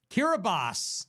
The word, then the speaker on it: Kiribati: Kiribati is actually how it's pronounced.